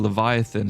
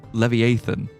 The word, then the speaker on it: Leviathan: I think I think somebody pronounced I saw some something relatively recently somebody pronouncing Leviathan as Levi Levieathan.